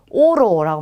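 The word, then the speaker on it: oro: 자, 그 다음에 여기는 두 개 다 오로 그냥 발음하시면 돼요. 그래서 오로라고 합니다. 오로.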